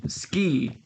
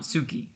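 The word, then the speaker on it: 好き: even there you say ski not Suki as if the U wasn't even there all this to say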